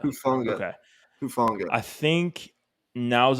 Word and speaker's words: Hufanga: Hufanga. Hufanga.